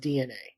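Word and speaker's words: DeNA: it's spelled D but it's spelled D or it's pronounced DNA yeah I don't know why it's pronounced like that it's because the d d still sounds like d yeah but it sounds like it should be D A yeah I don't I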